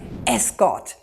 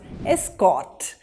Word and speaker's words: escort: your next word as a noun this is pronounced as escort you'll need an escort to get through security as a verb it becomes escort he escorted her out of the door you